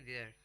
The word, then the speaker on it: vier: VIER spelling है उसकी, और उसको बोलेंगे देयर.